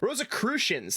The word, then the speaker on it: Rosicrucians: think we're going there there are the rosicurian rose rosic rosicrucians that's the right pronunciation finally i can read